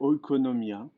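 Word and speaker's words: οικονομία: l'étymologie grecque économies économies en grec ça se prononce à peu près economia donc de l'équipement olco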